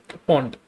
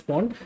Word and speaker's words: PWND: So when you connect it to a power source, right, you can see a Wi-Fi network named as POND, okay? PWND, depends upon how you pronounce it.